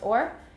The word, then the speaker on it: or: is the theoretical answer theoretically it's pronounced or in practice they said er and that's what i